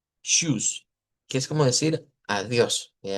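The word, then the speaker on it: Tschüss: E pero también introducíamos algo otras cosas, vea como lo que es el shus en este caso es una vea una ch, una t contra una o una sh. Suena ch, decíamos shoes, que es como decir adiós, adiós.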